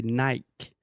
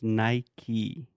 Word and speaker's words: Nike: Is obviously phonetically Brazilians should say Nike, Nike, but for some reason Brazilians decided to say Nike. But in English, it's Nike.